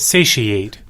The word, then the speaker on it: satiate: that doesn't sound right say she ate yeah I didn't know how to say it that's why I hit the button I don't know the English pronunciation rules are just weird and there was uh I see sat e Aiden satiate say she it's where do you get the Shish sound tion remember so TI is you know you know